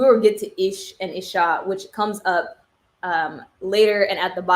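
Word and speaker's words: אִישׁ: And it is, I believe it's pronounced ish or ish.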